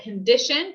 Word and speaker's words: condition: the o for example condition condition condition we don't want to say condition condition no because this first o sound is more like a u or the schwa sound condition condition all right